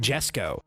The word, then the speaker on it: Jesko: It's Koenigsegg Jesko.